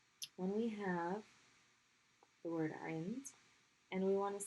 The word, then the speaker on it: عند: So the word is عند. عين, nun, dal. عند. So the ayn is being pronounced with kasra. Stop on the nun at the top of the mouth and then end with dal.